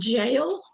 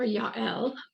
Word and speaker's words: Jael: The third one we're going to look at is, you can say her name Jael or Yael, and she is also in the Hebrew Bible, the Old Testament, and she killed the General Sisera.